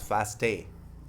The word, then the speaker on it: FASTA: FASTA stands for Fastol, pronounced as FASTA.